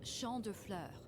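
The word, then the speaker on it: Champs de Fleurs: do you say that it's Shand FL it means Field of Flowers this is the place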